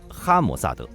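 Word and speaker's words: המוסד: 情报机构，在希伯来语中机构一词的发音为哈摩萨德，所以之后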